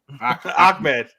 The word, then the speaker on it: Ahmed: It's just not pronounced that way. Oh, so okay, so Ahmed, yeah. Ahmed.